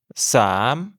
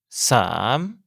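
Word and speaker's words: สาม: Le 3 est plus facile à dire Sam. Comme pour le 2, la voyelle est longue et le ton se prononce comme une question. Sam, le 4 se prononce si.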